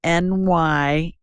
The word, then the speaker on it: nystatin: And then lastly, get a hold of some nystatin. And it's spelled Nystatin, nystatin. Think of New York and Staten Island. That's how it's an easy way to remember it.